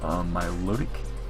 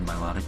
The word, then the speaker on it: Milotic: Main six, I got Cresselia, Aromatisse, Mega Banette, Milotic, or Milotic, depending on how you pronounce it, Infernape, and we have Scizor as well.